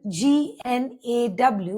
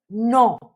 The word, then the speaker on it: gnaw: For example, G-N-A-W, which means to bite persistently, that is to bite continuously at something, is pronounced as gnaw, not gnaw.